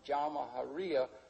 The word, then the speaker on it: Jamahiriya: You'll hear Colonel Gaddafi talk about the Jamahiriya, pronounced Jamahiriya, which roughly translates, an Arabic term, which roughly translates out the state of the masses.